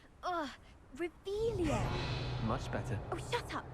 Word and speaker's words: Revelio: You're Rebellious. saying it wrong. Ugh, Revelio.